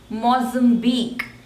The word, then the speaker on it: Mozambique: Morocco Morocco next is Mozambique Mozambique Mozambique and the stress is on the third one Mozambique Mozambique Mozambique Mozambique